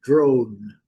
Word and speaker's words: drone: Mas a pronúncia é drone. Drone, certo? e a palavra, o con. Então vamos ter bastante cuidado para evitar de pronunciar esse e ele não é pronunciado.